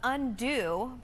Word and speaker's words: Undux: The release of Undo, but it's spelled U-N-D-U-X.